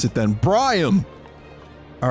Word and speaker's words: Briam: So how do I pronounce it then? Briam!